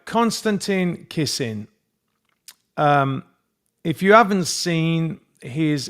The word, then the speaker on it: Konstantin Kisin: Konstantin Kisin. Right. Konstantin Kisin.